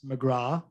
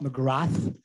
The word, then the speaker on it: McGrath: know how to pronounce McGrath, not McGrath. We have some very famous cricket people called McGrath, so we know how to pronounce that.